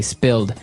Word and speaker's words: spilled: Okay, spilled. Now, it's pronounced differently from spell, right? That's right, It has spill. an I, spilled.